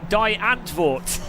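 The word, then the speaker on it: Die Antwoord: not like a single thing you know die die antwart that is how you say it you know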